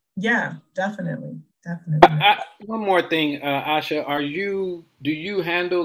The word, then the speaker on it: Asha: I would like to know, what made you decide, Asha, right? That's how you pronounce mm-hmm. it? Asha.